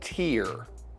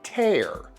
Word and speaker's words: tear: If so, that water falling from your eyes is called a tear. Don't confuse this word with the word tear. Tear is a verb that means to rip, split, or separate something. For example, I am going to tear this string off of my finger. Tear.